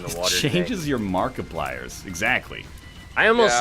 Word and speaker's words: Markiplier: I got nothing against Markiplier, but I like that his name rhymes with multiplier.